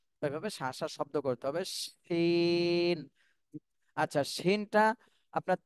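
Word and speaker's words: شين: এরপরে আশাম নূর আপু, শুনতে পাচ্ছেন? আপনি এই হরফটা উচ্চারণ করেন। শিন। আরেকটু শাসা শব্দ হবে, শিন। আরেকবার বলবেন। শিন। জি, তাহলে শিনের ক্ষেত্রে কিন্তু বাতাস বের হবে এবং শাসা শব্দ হবে।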